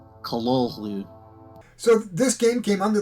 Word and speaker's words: Cthulhu: and we'll show you how to actually pronounce it it's more like how did hp lovecraft pronounce this word well the short answer is callallu so this game came